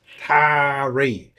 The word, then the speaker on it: Taree: new south wales australia called tari that's tarry for those who are unfamiliar with the local vernacular and pronunciation of that particular word where the atari well